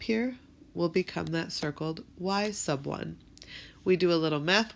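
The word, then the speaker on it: y₁: And the y1 and the x1, remember this is pronounced y sub 1 because the 1 is down below, like a submarine goes down below the water.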